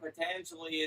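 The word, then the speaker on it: Patanjali: of pangel pangelia how do you say it patangeli what why is it important and why do I need to know about it uh the yoga sutras of patangeli is important because patangeli was a great yogic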